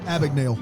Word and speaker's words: Abagnale: Abagnale.